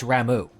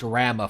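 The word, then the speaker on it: Ramuh: cuz it's Ram yes the proper pention is ramu but I've just internalized Rama for so long I'm going to continually call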